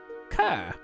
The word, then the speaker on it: Ker: would then say, "But you can call me Kerr." We missed It that. cut out when you Can't said the hear. name. Oh, you can The call me accent doesn't go too Kerr.